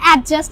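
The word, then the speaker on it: adjust: এটা অ্যাডজাস্ট কি না, হবে? এটা হচ্ছে অ্যাডজাস্ট। কি জাস্ট? অ্যাডজাস্ট। তো ডি গেল কই? বুয়া হয় না ভিউয়ার্স ভুলে কি বলো বলো। সেকেন্ড লেটার ডি টা উচ্চারণ করতে হবে না ডি এর, অ্যাডজাস্ট।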